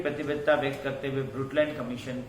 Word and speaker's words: Brundtland: ब्रुटलैंड में N silent है, एन और डी दोनों साइलेंट है, ब्रुटलैंड बोला जाता है।